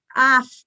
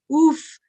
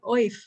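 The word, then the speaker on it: אויף: And it's spelled in transliteration OYF, but I keep telling students, you have a choice of pronunciation, of, af, oof, right? But it's really not oif.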